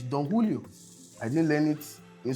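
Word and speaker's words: Don Julio: in school continuous learning it's not donilio it's donulio I didn't learn it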